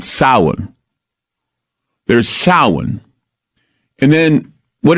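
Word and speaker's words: Samhain: how s m ha a i n is sa but it's pronounced sa not Sam Hayne although many people know what Sam Hayne is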